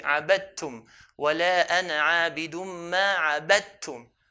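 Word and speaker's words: عَبَدْتُمْ: The rule is to merge them. So we're going to merge the dal onto the ta. So instead of saying abadatum, we'll say abadtum.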